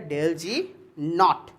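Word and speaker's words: ΔG°: इसको प्रोनाउंस कैसे करेंगे, आप इसको प्रोनाउंस करेंगे डेल जी नॉट।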